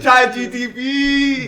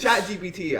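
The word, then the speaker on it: ChatGPT: Chat GTP. GTP. My one of my instructors for nanoelectronics, he called it Chat GPS. Wait, it's Chat GPT.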